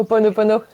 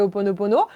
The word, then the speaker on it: Ho'oponopono: si tu connais le rituel alors on va prononcer Ho'oponopono.